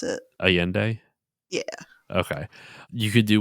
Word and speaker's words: Allende: allende oh yeah critical allende is how they pronounce it allende yeah okay you could do one on all